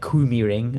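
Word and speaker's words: KymiRing: had uh Finn Finland, you know, and the Kumi ring as um it's supposed to be pronounced was lot softer stuff.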